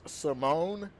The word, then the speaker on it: Simon: correction here somebody's saying it's pronounced Simone instead of Simon well it's spelled like